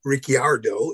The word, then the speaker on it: Ricciardo: But the others I like are Tsunoda, Ricciardo, or Ricciardo is the correct pronunciation, I guess.